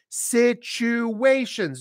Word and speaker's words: situations: it situations Abdel Rama situations notice there's the he is pronounced as a CH chop chop chop and there's a hidden W in there situations so there are many